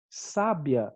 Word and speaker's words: sábia: palavrinha dessa aqui então sábia é um adjetivo e a gente acentua por quê porque é um uma paroxítona terminada em ditongo sabia é um verbo né e a gente não aceitou a sabia porque é um hiato só q ue é sempre a primeira vogal tônica e não segunda tudo bem e a